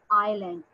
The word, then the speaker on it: island: A piece of land surrounded by water is called island. Here S is silent, and what we are going to say, island.